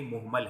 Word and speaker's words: مہمل: مہمل کہا جاتا ہے۔ بعض لوگ اسے مہمل پڑھتے ہیں لیکن وہ درست تلفظ نہیں ہے، اصل میں یہ مہمل ہے۔ اب آگے بڑھتے ہیں،